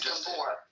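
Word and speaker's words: Gábor: It's Gabbor. Gabbor. Okay. Gabbor is It's a Hungarian.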